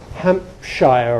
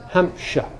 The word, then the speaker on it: Hampshire: American speakers would expect this to be Hampshire or something like that, or Hampshire. But the normal pronunciation of the people who live there and of our good RP of the SHIR endings is sh. Hampshire.